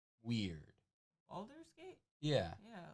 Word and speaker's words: Baldur's Gate: Because it's spelled weird. Baldur's Gate?